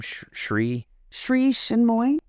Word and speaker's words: Sri Chinmoy: Sri Chinmoy. Shimnoy?